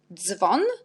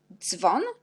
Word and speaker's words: dzwon: DZ, on prononce dz, jak dzwon, dzwon.